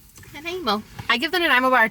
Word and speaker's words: Nanaimo: All the Americans gotten Nanaimo bars like last week and none of them could have pronounced it. Nanaimo. Nanaimo.